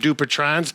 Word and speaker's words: Dupuytren's: We did do a video because Bob actually had Dupuytren's. That's the way I pronounce it.